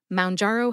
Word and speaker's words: Mounjaro: correctly it is M which rhymes with down as in your blood sugar should go down when you use m